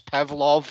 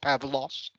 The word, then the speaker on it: Pavlov: Pavlov, not Pavlos. Usually people pronounce me as Pavlos, but it's a second V.